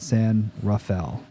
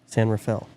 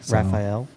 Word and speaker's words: San Rafael: r-a-f-a-e-l like you would think it would be pronounced but no we call it San Rafael San Rafael yeah even though everyone else pronounces it differently Raphael yeah I hate it when people say like